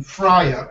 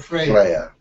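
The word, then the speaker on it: Freja: incubation I wanted to name her Freya pronounced like if are okay spell f r ej a pronunciation friar and Freya yes I will pass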